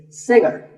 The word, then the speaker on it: singer: Another popular word with a silent letter is singer. The G is silent. Now, we say finger, we say the G. Younger, again with the G, but singer, no G.